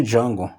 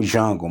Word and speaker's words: Django: Eu me chamo Django, mas não escreve, se escreve de tal maneira, cara, eu sei. Só para falar o eu sei e fui embora. Como você se chama? Django.